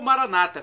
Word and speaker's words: Maranata: irmãos separados dos cartórios eles falam com a tônica na penúltima sílaba e os católicos com a tônica na última né O significado é o